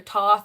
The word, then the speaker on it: Thoth: Also, there's 500 ways I've heard Thoth or Toth or Toth be pronounced, so deal with it. I'm going to say Thoth because that's what I have heard the most, and that's what I like to say.